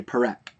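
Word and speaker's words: פרק: A chapter is a perek, and you'll notice here that I didn't say perek. In Hebrew, if you have the double eh sound, like in perek, then the accent is actually on the first syllable.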